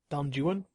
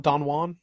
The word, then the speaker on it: Don Juan: That's how they That's how you're supposed to pronounce it, actually. Not Don Juan? No, because uh most of the rhyme structure is based around Jewan.